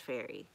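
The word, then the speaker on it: Ferrie: It's pronounced Fairy.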